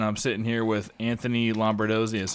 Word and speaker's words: Lombardozzi: All right, another episode of Hunt Suburbia, and I'm sitting here with Anthony Lombardozzi. That's how you pronounce it, right?